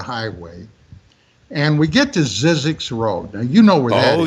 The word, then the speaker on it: Zzyzx: and we get to sizzix road now you know oh yes i do one of my favorite is it sizzix or is it syzygy sizzix yeah well that's the way i've always pronounced yeah i think yeah i've